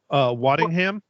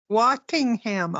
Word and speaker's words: Waddingham: word the shit, but I'm pretty sure it's Waddingham. Waddingham. Okay, I knew it was a W. Pretty sure that's how you pronounce it.